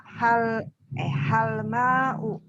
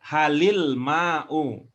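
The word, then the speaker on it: هل الماء: Kalau bacanya hal ma'u berarti alif lamnya hilang. Oh. Hal al-ma'u gitu. Ya, begitu cara membacanya. Hal al-ma'u. Supaya tidak repot, maka itu jadinya halil ma'u.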